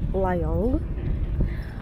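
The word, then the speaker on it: Rayong: И вот он, значит, едет, но он едет не терминал первый или второй, как есть в этом районе, который на самом деле произносится Лайонг, а, собственно говоря, он останавливается прямо в центре города Лайонг.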